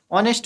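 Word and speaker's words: honest: बट हमारा क्या है? एच साइलेंट रहता है। तो इनको क्या है? इनका प्रोनंसिएशन ऑनेस्ट होता है।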